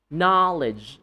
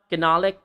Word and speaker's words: knowledge: Knowledge. Not canolic.